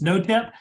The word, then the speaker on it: NOTEP: you see the word no tap one of the great things I did when I started this organization is give it a name that nobody ever pronounces right it's no tip New Orleans technical education